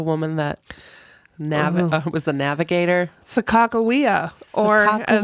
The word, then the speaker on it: Sacagawea: Sacagawea, or as Sacagawea. I was taught in high school, Sacagawea. That is incorrect. Sacagawea was how I was taught in high school, Yeah.